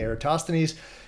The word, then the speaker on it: Eratosthenes: And so I consider Eratosthenes, some people call him Aristophanes, I call him Eratosthenes, and I hear that pronounced differently in other ways too, but most commonly Eratosthenes.